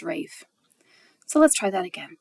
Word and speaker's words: Ralph: 820 squad- squadron's commanding officer Lieutenant Commander Ralph Wykes Snid That's probably not the right pronunciation. I don't know if it's Ralph or Rafe. Usually in Britain it's Rafe.